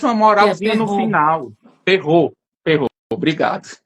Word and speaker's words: Perrault: livros, no livro que ele traz a história, Perrier, ele traz contos de Perrier. Eu acho que se pronuncia assim, desculpa se eu estiver pronunciando errado. Marcos Ele traz uma moralzinha no Perrault. final. Perrault, obrigado.